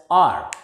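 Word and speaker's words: hour: H is silent here and it is pronounced as R.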